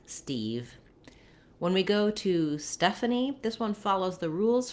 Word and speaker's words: Stephanie: stephanie and a nickname for stephanie would just be stuff that first syllable you may see stephanie